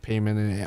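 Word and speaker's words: Paimon: We will get Trailblazer and Payman or Pon as they say. It's pronounced Payman IRL, but you know.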